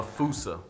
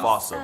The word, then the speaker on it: fossa: to lemurs everywhere, the Fusa. Although with its spelling, I'm pretty sure it's actually Fossa, but the day I pronounce it like that is the day I lay my childhood to rest.